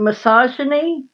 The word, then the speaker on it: misogyny: Nicole has to do the proper pronunciation for me, but it's called misogyny.